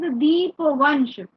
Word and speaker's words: Dipavamsa: texts such as the Dipavamsa See, the and pronunciation is Deepavansh, but since it's written in English, the M is used.